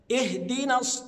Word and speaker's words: اهدنا: انا ماعملش لها نبر ولا ولا قلقله ابدا اهدنا اهدنا ولا ما ينفعش اقول ا بعض الناس ينطقها همزه مفتوحه لان انا كده حولت المعنى